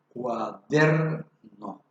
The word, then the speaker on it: cuaderno: En esta palabra cuaderno vemos que tiene 3 sílabas. De estas 3 sílabas, sola una lleva la fuerza de la voz. En este caso, la sílaba der, cuaderno.